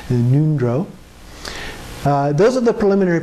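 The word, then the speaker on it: ngöndro: the preliminary practices in nundro that's in g-o-n-d-r-o uh so the g is silent neutral and the o sounds like a u nundro uh those are the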